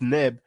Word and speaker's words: Neb: And V30, pronounced Neb, usually translated as Lord or Thee.